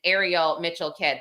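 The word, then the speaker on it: Ariel Mitchell-Kidd: know but the other really insane lawsuit and Ariel Mitchell kid that's how that's how her name is pronounced she was questioned about this by Ashley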